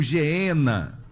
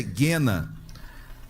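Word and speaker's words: γέεννα: condenação do inferno aqui Inferno no grego quer dizer genena ou geena mais o certo da pronúncia é guena ou seja esse é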